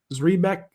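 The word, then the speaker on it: Zrebiec: Zrebeck.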